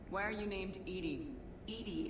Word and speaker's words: EDI: are you named Ed Ed is the phonetic pronunciation of e that is an acronym